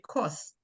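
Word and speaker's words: kos: So if you put like a K-O-S-S, just like saying kiss, but it's K-O-S-S.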